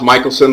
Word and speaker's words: Michealson: It's pronounced Michealson, but I spell it E-A, so if you send it to K-A-M-I-C-H-A-E, it may not get to me at uark.edu.